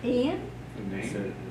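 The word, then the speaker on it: Iain: Ian? But it's spelled I-A-I-N.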